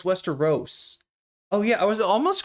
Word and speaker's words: Westeros: I said Westerro. Oh, it's Westeros.